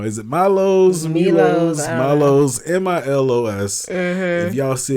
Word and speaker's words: Milo's: Is it Milo's?